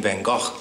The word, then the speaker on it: Van Gogh: So the Dutch pronounce his name Van Gogh, but I'm not going to do that because it doesn't roll off the tongue as naturally with me.